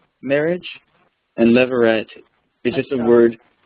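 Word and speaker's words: levirate: us the picture and this is called a leveret marriage and leveret is just a word it's it's spelled l e v i r a t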